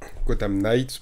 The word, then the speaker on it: Gotham Knights: Donc, Gotham Knights plutôt. Prononce pas le K, logiquement.